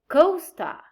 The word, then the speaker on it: co-star: but we say supermarket star but we say co-star where but we say underwear way but we say subway part but we say counterpart link but we say hyperlink so these prefixes we have here would take this the primary stress well now we're going